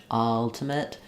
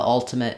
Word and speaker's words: ultimate: the ultimate ultimate finish if you're doing ultimate quickly in the context of a sentence it might be easier for you to use the correct vowel on that letter U um after class uh